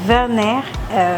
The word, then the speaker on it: Werner: résidence Werner house donc Werner ça s'écrit avec W mais ça se prononce comme un V donc Werner house pourquoi